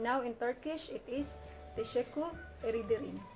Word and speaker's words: teşekkür ederim: And now in Turkish, it is teşekkür ederim. It is two words but pronounced as one, so teşekkür ederim.